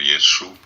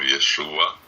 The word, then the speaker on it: Yeshu: Inclusive diz que o nome dele, pronunciado em aramaico, era Yeshu, não Yeshua.